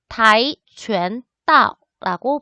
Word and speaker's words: 跆拳道: 태권도 중국어로 태권도 타이拳다오라고 발음을 합니다.